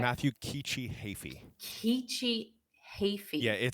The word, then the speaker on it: Heafy: Kiichi Yeah, Heafy. it's a Okay. tricky. The middle and last names are tricky, but Heafy, even though it's not spelled like Heafy.